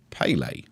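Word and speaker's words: Pelé: I think you were right to bring in the Pele there.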